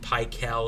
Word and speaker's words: Paykel: F&P, Fisher and Paykel is how you pronounce it, I guess, as one viewer told me.